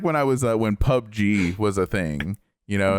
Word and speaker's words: PUBG: Gupdo. No, it's PUBG, not Gupdo.